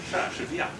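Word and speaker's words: 莎士比亚: Sha Shi Biya. Sha Shi Biya. Now this is obviously not so. okay, clue. He's English. Sergio. No. Sha Shi Biya.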